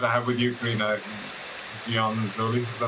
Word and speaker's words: Ghionzoli: But after this, every chat I have with you, Carina, Ghionzoli, is that how you pronounce it? Ghionzoli, yeah.